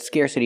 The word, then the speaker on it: scarcity: Scarcity is the same idea as scarce, but scarcity is a noun. Pronunciation, scarcity. Use the air sound like hair and chair, scarce. Scarcity. We hear the T pronounced like a fast T because it's between vowels.